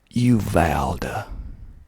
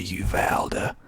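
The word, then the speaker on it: Uvalda: kind of doing this on the fly okay you valda you valda spelled u v a l d a u valder you vowed i've never been to you valda have you been to uvalde if you have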